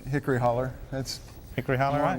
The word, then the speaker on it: Hickory Hollow: Hickory Hollow barbecue or as I referred to it when I first heard you were coming in hickory holler Tony which is a the pronunciation that you prefer we prefer hickory holler that's Hickory on the